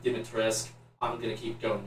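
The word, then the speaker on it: Dimitrescu: name alcina dimatorescu i i know it's apparently pronounced given to risk i'm going to keep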